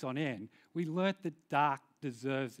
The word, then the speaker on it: Tak: it correctly it's pronounced dark kind of like dark but with a tea yeah it's a it's